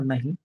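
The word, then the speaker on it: knee: त्याच्यानंतर के नंतर जर एन आला तर के कधीही उल्लेख उल्लेख होणार नाही किंवा केला जाणार नाही जसं के एन डबल नी नी म्हणजे गुडघा त्याच्यानंतर नॉट क नाही वापरत आपण कधी वरती बोट ठेवायचा आणि एन पासून उचलायला सुरुवात करायची नॉट मी नॉट नो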